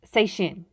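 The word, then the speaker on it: 再见: written this way and it's pronounced say shin seishin the parentheses of both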